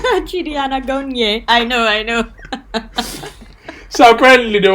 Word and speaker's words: Anagonye: Anagonye. That's how they say his name. Chidi Anagonye.